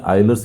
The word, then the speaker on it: Euler: Derive the equation of motion means यूलर्स equation of motion. कई लोग pronunciation में आइलर्स equation of motion भी कहते हैं।